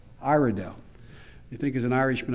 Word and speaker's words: Iredell: And am I pronouncing right, Iredale? Iredale.